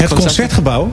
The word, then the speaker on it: Het Concertgebouw: Actually, last time we were in Holland, we played in Het Concertgebouw. How do you pronounce it? Het Concertgebouw?